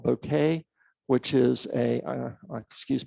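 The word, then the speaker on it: Bokeh: peer relationship so we use a package called bouquet which is a uh excuse me i call it bouquet it's actually boca it's a correct pronunciation of it don't worry it's a it's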